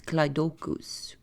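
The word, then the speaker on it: κλειδοῦχος: For breaker of chains, it's rixapile, and for keeper of keys, it's kleidokus.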